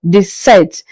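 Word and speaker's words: dix-sept: This set.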